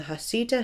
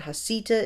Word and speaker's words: Heceta: I have read that it is pronounced both as Heceta and Heceta, but I believe that Heceta is the preferred pronunciation.